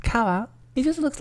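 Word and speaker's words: 川: Next up we have river, which is pronounced kawa.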